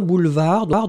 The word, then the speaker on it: boulevard: Boulevard, donc n'oubliez pas, B-O-U-L-E-V-A-R-D. Un boulevard, le D final n'est pas prononcé.